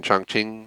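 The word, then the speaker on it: Chongqing: dawn of butcher again chong ching i think is the way it said when i looked it up for at least the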